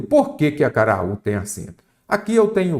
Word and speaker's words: acaraú: A sílaba tônica é a última.